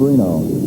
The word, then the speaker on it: Renaud: Now Steve Renaud. You may wonder about the pronunciation, but that is the preferred family pronunciation.